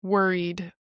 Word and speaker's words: worried: Worried is similar to the word were, and then eed, similar to seed, except without the S. So worried, were seed, worried, worried, worried, worried, worried. Were, and then read. I don't know why I didn't say this. Were, worried. That's the pronunciation.